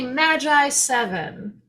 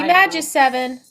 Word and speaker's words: Magiseven: they are the lovely Magi seven yes that's how we believe it's supposed to be pronounced it could be magic seven what do you think